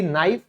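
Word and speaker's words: knife: देखिए चाकू, जैसे कि नाइफ, ये वाइफ की तरह क्यों साउंड कर रहा है, ओके कोई बात नहीं। ज्ञान यानी कि नॉलेज, तो देखो भाई एन से पहले आएगा तो के साइलेंट हो जाएगा।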